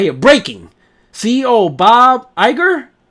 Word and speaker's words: Iger: uh it says right here breaking CEO Bob Iger how do you pronounce his name Iger IG Bob Iger all